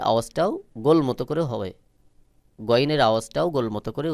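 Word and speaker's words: غين: তারপরে রয়েছে গাইন, গাইনের শুধু গ উচ্চারণ হবে। অনেকে ভুল করে গাইন বলে, এটা সহি উচ্চারণ নয়। সহি উচ্চারণ হলো গাইন। গইনের আওয়াজটাও গোল মতো করে হবে, গইনের আওয়াজটাও গোল মতো করে উচ্চারণ হবে।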